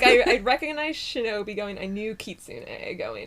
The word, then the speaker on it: shinobi: And then in the native kunyomi reading, it's pronounced shinobi.